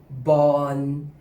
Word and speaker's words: บอล: Ball refers to ball in English except that it is pronounced with an ending N sound. Born, as there is no ending L sound in Thai.